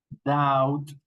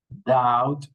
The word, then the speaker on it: doubt: Doubt. Listen to me. I'm not pronouncing the letter B. Dead. Doubt.